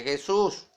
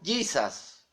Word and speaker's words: Jesus: Jesus, que se escribe Jesús. Y no se pronuncia Jesús, sino Jesus. Como la palabra junior, que es una palabra inglés, que se pronuncia junior, porque la J en inglés es Y.